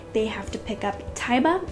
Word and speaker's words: Taiba: have to pick up taiba i think is how you would say her name t-a-i-b-a i kind of i count that as saying taiba let me know if you guys have a different pronunciation um but they do